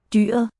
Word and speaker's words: dyret: Dyret. Oh, T is dropped.